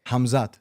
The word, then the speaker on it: Hamzat: right ham he said a lot of people say hazma so you pronounced the K hamzat ham yeah hamzat Oh I thought I